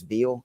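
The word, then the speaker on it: Vele: like both Reynolds and I think it's ve Devon V is how you pronounce it uh it's DFS values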